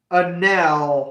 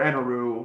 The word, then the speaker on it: Enel: And Enel, I think, is the only other character in the game who breaks the rule, or Eneru, however you want to pronounce it, the lightning guy from